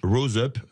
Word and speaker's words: Rose Up: Vous travaillez avec une association de lutte contre le cancer qui s'appelle Rose Up. Oui. Je prononce que c'est en anglais, à l'anglaise, ça va faire plaisir à Cécile.